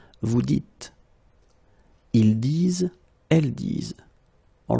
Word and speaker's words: vous dites: So it's not vous disez, okay, as many would think, but then it's vous dites, okay, final S not pronounced, vous dites.